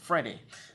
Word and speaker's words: Vrede: I know it's got a V on it, but they say you pronounce it like an F, Vrede.